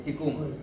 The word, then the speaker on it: Qigong: De Qigong. Qigong se llama. Ahí tienes que ir tú. Qigong. Lo más conocido es el Tai Chi. Que es digamos que es el hijo del Qigong. Qigong es la madre.